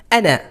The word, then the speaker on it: أنا: আনা, আনা টান দিয়ে বলা যাবে না, এই আলিফের উচ্চারণ নেই। আনা।